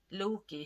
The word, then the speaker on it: Loki: use of ignorant aggression Loki whose name rhymes with loogie flame and who often